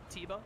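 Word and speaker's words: Teba: the mighty taba teva i always say tabo but i think zelda just pronounced it tebow or something i don't know i'll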